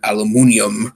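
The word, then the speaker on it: aluminium: favorite of course being the way he pronounces aluminum a limonium which is the British Way of pronouncing aluminum but it's interesting because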